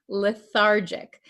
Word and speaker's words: lethargic: pronounce this word lethargic remember this is a JJ sound lethargic Okay the patient feels